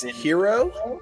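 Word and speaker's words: Jirro: is uh he him his name is hero but it's spelled j i r r o um he hates his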